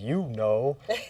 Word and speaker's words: Ukno: So like when people say my name, they be like, "You know." So it's like, yeah, it's like a chant or. Yeah. And it sounds like Uno.